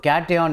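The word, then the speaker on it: cation: ஸோ கேட்டையான் எப்படி pronounce பண்ணுறீங்க, K sound வருதா, ஸோ ஆன்சரில் கே இருக்கணும், ஸோ கே கேட்டையான்னா கே, K sound.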